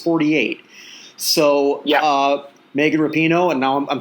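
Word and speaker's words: Rapinoe: so yeah uh megan repino and now i'm saying her name right i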